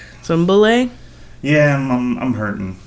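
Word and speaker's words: Bulleit: some Bulet yeah I'm I'm hurting like or we're Cowboys so I guess we should call it bullet well I mean it's pronounced bule though did you know that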